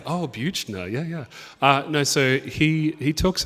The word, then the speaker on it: Buechner: Or know who he is, or know that that's how his name is pronounced. But it's like, oh, Buechner, yeah.